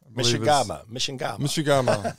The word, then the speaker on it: Mchangama: Mishigama is how he pronounces it in the film last night.